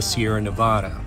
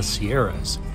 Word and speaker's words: Sierra Nevada: according to the locals the correct way to say it is the sierra or the sierra nevada not the sierras typically mountain ranges have a plural nickname you know like the smokies the cascades with rockies if you